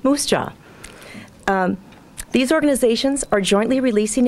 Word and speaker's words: MUUSJA: Universalist Social Justice Alliance, MUUSJA, pronounced Moose Jaw.